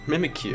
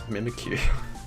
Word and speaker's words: Mimikyu: like Pikachu n it's mimik Q mimikyu I think that's how you say it yeah it's a ghost